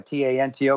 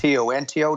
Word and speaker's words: Tanto: The reason I made it Tonto, a T-A-N-T-O, because I'm Mexican, Spanish. If it's T-O-N-T-O, Tonto, that means fool. So say it Tanto, no big deal.